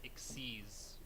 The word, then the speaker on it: Xyz: like it's xyz summoning but it's but it's pronounced exes yeah no yes no i remember when i